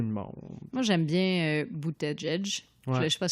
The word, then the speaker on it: Buttigieg: Mais ça se dit Bouddha comme un Bouddha et juge comme judge. Buttigieg.